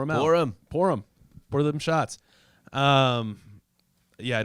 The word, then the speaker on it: Purim: Purim. Yeah, they're celebrating. All right, sure. And it's funny. It's Just the name of jacking the off. holiday. Purim. It's like pour 'em up, pour 'em out, Purim.